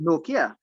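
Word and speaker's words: Nortje: the helmet by Anrich Note. Well, I see they pronounce it Nokia.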